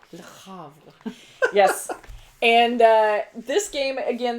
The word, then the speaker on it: Le Havre: My number 7 is Hunter's favorite to pronounce. Le Havre. La Havre. Le Havre.